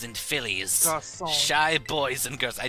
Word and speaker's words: garçon: What to me these little garcons and fillies? Garçon. Shy boys and girls. I did that I mispronounced it on purpose.